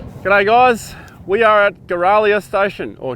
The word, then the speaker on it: Giralia: guys we are at guerralia station or geralia station is pronounced like a giraffe we have heard that